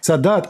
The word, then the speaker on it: Sadat: Am I pronouncing Sadat? Anwar Sadat? Sadat.